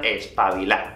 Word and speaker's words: espabilá: Pero al igual que antes, normalmente aquí en España los españoles no pronunciamos esa última D. Así que alguien te puede decir, eres un espabilado o eres una espabilá.